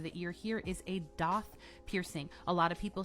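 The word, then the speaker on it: daith: The ridge on the inside of the ear here is a doth piercing.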